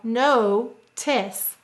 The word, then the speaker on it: notice: How many syllables in notice? 2. We will say to spell no-tis. What will we say to spell? No-tis. Let's sound out the first syllable, no. N-o. Let's sound out the second syllable, tis. T-I-s. Use a k-s. And what will you need? You're right, a silent final E.